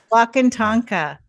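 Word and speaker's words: Wakan Tanka: Um, I could read from your book or do you want to talk about what walk Okay, how do you pronounce it? Wakanta. Yeah. Wakant Tonka.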